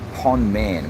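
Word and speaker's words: ប៉ុន្មាន: the week is uh Pon p m sorry p o n for Nelly um Man Pon man which means how much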